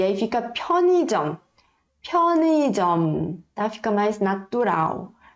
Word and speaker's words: 편의점: Perceberam que todas elas a gente vai pronunciar colocando o ar da boca e o ar tem que bater aqui na palma da mão, tá bom? 편의점.